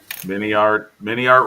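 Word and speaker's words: MiniArt: Mini art rhymes with multi-part.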